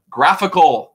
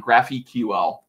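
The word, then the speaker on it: GraphiQL: it it's something called graphical everyone mispronounces this it's graphical not graphy ql like a graphical unit interface get it y'all um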